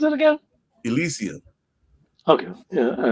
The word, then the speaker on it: Elysium: How do you pronounce it again? Elysium.